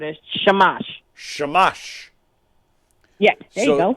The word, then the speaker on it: shamash: do you say that shamash it's s-h-a-m-a-s-h right yeah so you gotta you can't separate it like like a Christian you gotta say it like a Jew where it's all one word a shamash shamash yeah there you